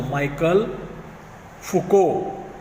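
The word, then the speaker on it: Michel Foucault: और हमारे इस लेसन में जो लास्ट का जो हिस्टोरियन है उनका नाम है माइकल फुको। प्रोनाउंसिएशन ध्यान में रखो, माइकल फुको।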